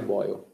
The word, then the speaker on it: Boyle: O nome dele parece a pronúncia de fervendo em inglês. O nome do cara é Boyle.